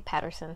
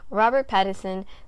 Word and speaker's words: Pattinson: robert pattinson robert pattinson i always say his name wrong i say patterson sometimes ignore me robert pattison zoe kravitz jeffrey wright